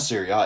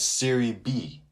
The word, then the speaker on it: Serie B: syria b syria b it's not syria it's serie b the second division in in italy that's what i meant